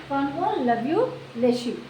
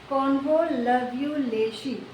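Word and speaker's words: Convolvulaceae: इसको 3 बार में तोड़ के पढ़िए, फिर आराम से इसको पढ़ पाइएगा, ठीक है। अगला है आपका सोलेनेसी, ठीक है।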